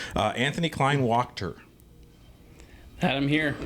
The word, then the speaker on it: Kleinwachter: Anthony Kleinwachter. Had him here. I feel like I added the syllables incorrectly. Kleinwachter. That's perfect.